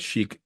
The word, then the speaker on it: Chic: iron Chic either no I'm talking about Chic uh C hi i c it was spelled chick which confused the heck out of me you know once again